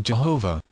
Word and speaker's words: Jehovah: of the modern Sant the tetragramaton or the four-lettered name of God written thus is pronounced Jehovah the first letter is